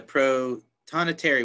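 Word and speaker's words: Prothonotary: Ohio in the mature Oh large forest they're Pro Tana Terry Warbler there I said it right this time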